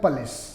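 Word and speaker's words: polish: Repeat होते हैं, उनमें सिर्फ एक वर्ड है पलिश, क्योंकि वो ज़्यादातर वो देता है जो अक्सर हमारे यहाँ गलत बोला जाता है। तो correct pronunciation is द पलिश।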